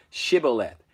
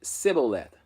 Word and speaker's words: Shibboleth: If they said, Nay, then said they unto him, Say now, Shibboleth. And he said, Sibboleth, for he could not frame to pronounce it right.